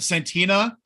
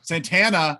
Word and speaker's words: Santana: boys yeah which is nice we get that santina i said santa oh my god am i ever gonna say it right santana uh he does the mugging for the camera